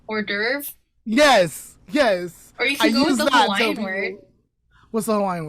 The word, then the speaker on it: hors d'oeuvre: use that as an outdoor adorb i can never say i can never say the word right how do you say it hors d'oeuvre yes yes what's the